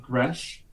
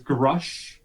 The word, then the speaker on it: Gresh: kept making fun of Gresh. His name with an E. I spelled it with a U, pronounced as Grush.